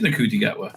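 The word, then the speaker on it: Ncuti Gatwa: I think it is Nakuti Gatwa.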